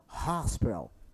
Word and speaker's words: hospital: Olha a pronúncia do H, som de ha, ha, hi, ho, ho. Então, hospital.